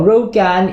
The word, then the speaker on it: 肉干: Hi guys, Bak Kwa, as pronounced in Hokkien or Rogan in Mandarin, is the Chinese version